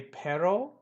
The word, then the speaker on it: perro: or el perro again don't worry about rolling your R's but the proper pronunciation is with the are rolled to say perro is to say but